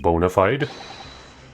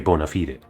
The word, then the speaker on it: bona fide: Do you mean to say that the experiment was bona fide? This is, by the way, one of those words that I think is stupidly pronounced in English. It should be bona fide, not bona fide.